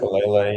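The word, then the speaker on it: Faalele: Daniel Falele, is that how you say his name, out of Minnesota? Falele, yeah.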